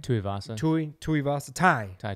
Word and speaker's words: Tuivasa: Tuivasa. Tuivasa. Tai. Tai Tuivasa.